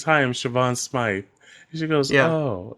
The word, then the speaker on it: Siobhan: And the girl comes up to her and says, hi, I'm Siobhan Smythe.